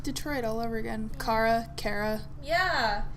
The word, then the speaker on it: Kara: how they I pronounced said it that way because that's what Alice says. Kara.